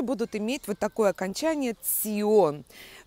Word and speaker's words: -tion: например иор понятно Да здесь аккуратно произносим Цион вот как будто цирк цыплёнок звучание этого суфикса аффикса